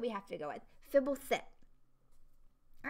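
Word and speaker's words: Fblthp: Fibblefit is how Marshall Sutcliffe pronounces it. He's the one that sets the pronunciations. Okay, if Marshall Sutcliffe says it, then that's what we have to go with. Fibblethip.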